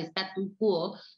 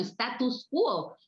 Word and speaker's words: statu quo: frase latina pablo mencionó la de statu quo que la gente tiende a pronunciar como status quo y en realidad eso es un poco una confusión con el grupo musical que si yo no